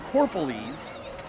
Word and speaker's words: Corpolis: So Justin Corpolis, excuse me, I've been mispronouncing his name the whole game, Corpolis, with the interception.